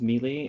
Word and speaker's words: Melee: You're one of those people that says melee and the words melee. It's pronounced Melee.